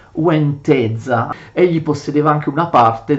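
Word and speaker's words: Łęczyca: Possedeva Ladislao i principati di Sheraz e Uenteza, che anche se si scrivono in questo modo si pronunciano Sheraz e Uenteza.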